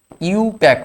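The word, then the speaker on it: IUPAC: একের বারে অংশের সঙ্গে সমান আই ইউপিএসসি বা ইউপ্যাক যাকে বলা হয় আই ইউপিএসসি বলতে নেই ইউপ্যাক বলতে হয় আই ইউ পিএ সিসি আই ইউ পি এ সি ইউ প্যাক বলবে ইউ ওয়াই ও ইউ প্যাক এরকম আইউপিএসসি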